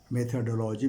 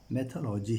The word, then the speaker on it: मेथोलॉजी: मेथोडोलॉजी भी कुछ लोग बोलते हैं, लेकिन मेरे विचार से सही उच्चारण उसका मेथोलॉजी ही है, विधि और प्रविधि।